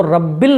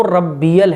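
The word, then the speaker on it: رَبِّيَ: तो रब्बिल नहीं है, वो रब्बियल है। सुबहान रब्बियल, रब्बिल नहीं रब्बियल।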